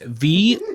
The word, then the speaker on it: Voirrey: You just say it like a Cockney guy. And it'll make sense. It'll be, oh, it's very. Very. It's very. Very. It's very over there.